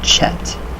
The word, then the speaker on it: Chet: The ch of the chet is pronounced like the ch of a Scottish word, och. So, och.